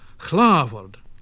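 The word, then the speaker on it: hlāford: WH, so what, what, but also in HL, as in chlavord, Lord, and HR, as in hroof, roof.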